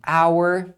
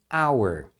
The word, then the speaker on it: hour: A gente tem aqui hour e hour. Então as duas você pronuncia hour.